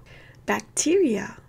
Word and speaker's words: bacteria: 발음 기호는 black이에요. bacteria.